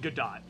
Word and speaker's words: Godot: or goto it's called good dot oh yeah i've always called it uh like the like the ace attorney character yeah but i think you actually do pronounce the t it's that's weird yeah